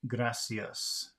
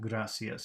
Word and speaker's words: gracias: is gracias uh again I think that an English speaker wants to say graas but it's not gracias it's gracias gracias next word dispens dispens